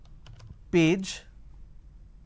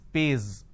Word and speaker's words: page: J and for example page so instead of saying page they pronounce this as pays instead of pronouncing Zone